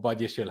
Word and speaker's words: Badiashile: So, next one on the list, Big Benoit Badiashile. Or Badiashile, how it's supposed to be pronounced, but how does it rhyme with Lamborghini then? Well, it doesn't.